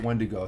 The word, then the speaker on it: wendigo: okay wendigo okay that's how you okay I'll pronounce it wendigo thank you Wendigo um let's see Let's see